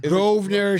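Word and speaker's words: Grosvenor: Grovener. Strathmore. Is it Groer? Is it Gner? It's the You know what it's it's Gner.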